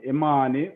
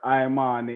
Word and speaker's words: Imani: how you pronounce it, and Imani, or Imani, if you are Rasta, you have to emphasize the I.